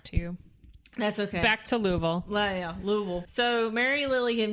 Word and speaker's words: Louisville: wrong or goes Mary Lily had moved to Louisville and had moved him within his house it's two syllables Louisville yeah Louisville Louisville Louisville I've actually